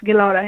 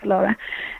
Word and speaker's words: Galara: Talk talk about Galara. Is it am I pronouncing it correctly? Galara. Yes. Yes. Galora. It's pronounced like Galora.